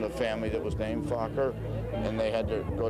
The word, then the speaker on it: Fokker: a few families called Fokker, which was the Dutch. There's a Dutch. You've heard this? It's spelled F-O-K-K-E-R, Fokker.